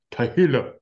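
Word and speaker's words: תהילה: Je sais que Louis II, ça dit louange et cantique, mais ici, ça devrait être Tehillah. C'est comme ça que le gars l'a prononcé. Tehillah.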